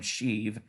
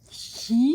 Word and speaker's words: Sheev: actual real first name, Sheev. And Sheev? Yeah, Sheev. Yeah, but it's spelled like Shiv. Yeah, like a prison shiv.